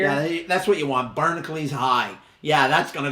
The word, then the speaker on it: Barnacules: I say Barnacles. It's spelled Barnacules.